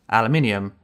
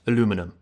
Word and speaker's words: aluminium: go crazy in the comments yes it is pronounced aluminium and not aluminum I'm only kidding but not really now back